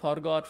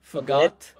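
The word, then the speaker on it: forgot: ফরগেট, ফরগেট, ফরগট, ফরগটন, don't say this way, right? Yeah, ফুগ্যাট, ফুগট, yeah, ফুগট, ফুগটন, ফুগটন, ফুগ্যাটস, ফুগেট, ফুগ্যাটিং।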